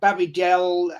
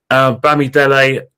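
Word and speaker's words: Bamidele: bring your pardon uh babidel uh d k o b d i i butchered your name mate no so his name his name his name is um bammy delay um is Europe a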